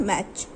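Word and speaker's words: match: यहाँ टी का साउंड थोड़ा सा साइलेंट में हो जाता है. मैच.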